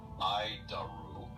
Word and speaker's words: ADIRU: So, the ADIRU system, also known as the Air Data Initial Reference Unit, we pronounce it IDARU.